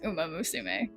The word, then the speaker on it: Uma Musume: Isn't it Uma Musume? I swear it didn't have that many. I feel like it didn't have that many. It doesn't have that many. It doesn't have that many syllables. I swear. But whatever. Yeah, it's Uma Musume.